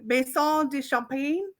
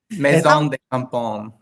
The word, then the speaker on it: Maison de Campagne: The dynamic duo behind, another name, Maison de Champagne. No. Campaign. Maison de Campagne. The Campagne. Campagne. Yes. Campagne. It's a common. It has very French, so you have to say it properly.